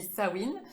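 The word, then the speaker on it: Samhain: dit staouine donc voilà on dit pas sa main ça s'écrit sa main mais on dit ça win et effectivement toutes les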